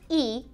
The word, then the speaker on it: y: is is is is the word e e which is just simply the letter Y and again that's pronounced e means and so let's